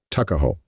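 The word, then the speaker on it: Tuckahoe: not belong to him Eastern Shore men usually pronounce the word Tuk as tuck tuah ho therefore is in Maryland parlament tuckaho but whatever may have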